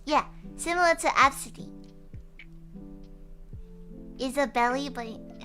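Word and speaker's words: Abcde: Like Absidy, but it's spelled A-B-C-D-E.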